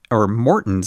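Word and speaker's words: Maurten: line bonk breaker bars, as well as my Morton's, I'm learning it is pronounced, drink mix, which Jonathan Vodders himself told me to use during the Leadville Trail 100 last year.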